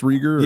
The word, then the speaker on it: Rieger: is your ancestry German riger I guess is it pronounced Rieger yeah so you know you pronounce the second vowel okay why are you